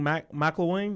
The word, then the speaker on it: McElwain: Gene McElwain, that's how you pronounce it. McElwain was 16-6.